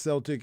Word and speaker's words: Celtic: owns yup so it's crazy and it is pronounced Celtic FC they're definitely one of the most recognized